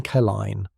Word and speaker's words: Klein: Pronunciation kine like line, where sheet music spilled like wartime rations.